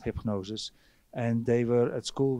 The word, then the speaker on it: Hipgnosis: circle the story and you pronounce it hypnosis hypnosis yeah right um so